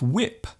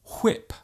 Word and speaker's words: whip: There is a temptation for some people to overpronounce words using the silent H. For example, instead of saying when, a person might say when. Instead of what, they might say what. And instead of whip, they might say whip. There is actually no need to pronounce the H so strongly. Just let the sound leave your lips naturally.